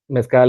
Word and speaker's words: mezcal: metscal it's better than tequila how do you pronounce that mezcal is way better than tequila good so everyone